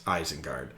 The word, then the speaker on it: Isengard: And Mark was like, Mike, it's Isengard.